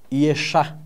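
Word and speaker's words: ישע: Deus sempre operou a salvação, que no hebraico nós pronunciamos Yeshá, entre os seres humanos.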